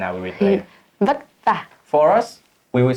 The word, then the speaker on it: vất vả: Vất vả. For us, we will say vất vả.